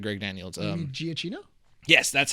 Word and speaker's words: Giacchino: you mean Giacchino? Yes, that's how you pronounce the last name.